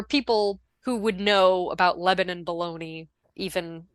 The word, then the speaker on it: Lebanon: That is but yeah, I don't know why that's it's and it's pronounced Lebanon, not Lebanon like the country.